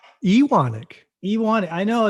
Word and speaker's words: Ewanuick: okay yeah how do i say it uh iwanic iwonic you want it i know it's like it's spelt like you in yeah like if you